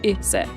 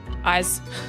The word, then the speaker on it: Ise: You would pronounce this Ise, wouldn't you? Not eyes. Eyes.